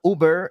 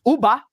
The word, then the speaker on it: Uber: so in that video my pronun pronunciation of uber is uba and that's funny that's